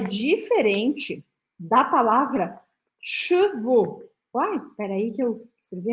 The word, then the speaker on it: chevaux: Quando eu ponho o O no final, que na verdade se escreve A ou X, mas a gente fala O, isso são cavalos no plural. Então a gente precisa marcar bem essa diferença.